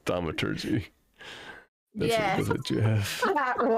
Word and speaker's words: thaumaturgy: it's pronounced thaumaturgy.